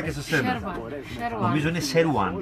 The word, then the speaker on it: Σερουάν: Νομίζω είναι Σερουάν. Δεν προφέρετε το W. Σερουάν.